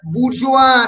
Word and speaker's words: bourgeoisie: Between the বুর্জোয়া, স্পেলিংটা সবার ভুল হয়, ভুল যেন না হয়, BOURGEOISIE, বুর্জোয়া। ISI কোনো pronunciation হবে না।